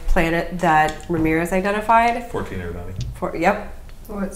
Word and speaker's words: Eridani: 14 Eridani. Yep. What? Say that again. 14 Eridani. Eridine?